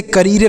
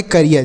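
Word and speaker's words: career: सी ए R double E आर, तो सी से हो गया कॉ, उसके बाद है आर, तो आर से लिखेंगे र, और डबल ई के साथ आर है तो इसका उच्चारण बड़ी की मात्रा और यह लिखेंगे आर से र, तो हो गया करियर। इसे करियर नहीं पढ़ेंगे, करियर।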